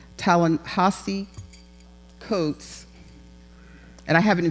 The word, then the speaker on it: Ta-Nehisi Coates: Ta-Nehisi Coates, and I have it in phonetics here and still say it wrong.